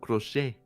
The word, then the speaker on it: crochet: So what it is is C R O C H E T. It's French. The T is silent. So you wrote it like a Latino. Crochet.